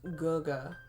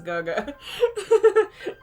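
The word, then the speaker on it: 哥哥: I've heard it's pronounced Guga.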